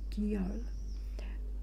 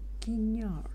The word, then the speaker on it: Guignol: Oh, Guiol. I just love the name. Wait a moment. I just realized I pronounced it wrong. I think it's a Guignol.